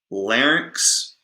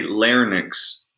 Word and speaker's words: larynx: And by the way, we say larynx and pharynx Okay, that is how it is produced. That's how it's pronounced. You don't say larynx and you don't say pharynx.